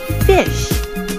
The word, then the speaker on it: Fisch: In German, it's called Fisch, and it's pronounced exactly the same way like the English word fish.